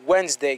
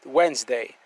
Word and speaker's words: Wednesday: Ouais, moi dit Wednesday. Gon lettre qui pas prononcé là, hein. D a pas prononcé, li voiceless, OK, ou bien li silent. M'dit Wednesday.